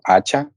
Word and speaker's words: hacha: For example, hacha, it's with h, but we will not pronounce that consonant. Yes. La. How do you say? El hacha. Because yeah. Just because here H doesn't have any sound.